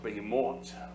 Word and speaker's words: behemoth: In the Hebrew, it would be pronounced behemoth.